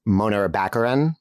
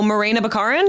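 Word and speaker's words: Morena Baccarin: don't know um it's uh what's her name Mona Baccarin Monera how do you pronounce it oh Morena bacarin yes there we go from Firefly oh wow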